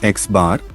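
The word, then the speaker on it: x̄: Mean equals to, where x is equal to the symbol we use for mean, pronounced as x bar, is equal to symbol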